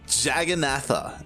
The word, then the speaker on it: Jagannatha: right time to throw it how do you pronounce it it's uh jagannatha l e and uh are you gonna go